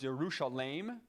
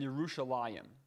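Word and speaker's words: ירושלים: out is the spelling notice at the end of yerushalayim there is that he wreck right before the final name that appears that there was a difference in pronunciation so it was yerushalayim and yerushalayim and those are both ways to say jerusalem and so sometimes you'll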